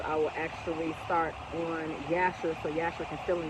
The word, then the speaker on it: Jasher: detail in the book of Yasher, but it's spelled with a J, called Jasher, but it's really Yasher.